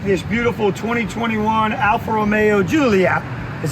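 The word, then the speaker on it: Giulia: And today I'm going to be able to take this beautiful 2021 Alfa Romeo Gulia, is how they pronounce it if you ask Google, Gulia, TI Lusso, for a test drive overnight.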